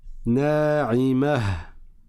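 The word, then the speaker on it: ناعمة: Quand on s'arrête sur la lettre ta marbouta, on prononce ha. C'est la façon dont lisaient les Arabes et c'est comme ça qu'on lit. Na'imatun, quand je continue.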